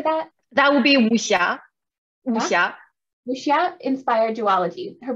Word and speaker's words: wuxia: The W-U-X-I-A, how do you say that? That would be Wuxia.